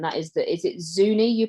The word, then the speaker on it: Zuni: talk about and that is the is it zuni you pronounce it yes the zuni why are they particularly a challenge for the